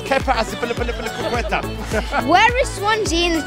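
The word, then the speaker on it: Azpilicueta: He didn't pronounce it correctly. It's Kepa Aspilicueta.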